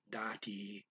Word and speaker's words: dati: The da is kind of quick and the T is kind of long, dati.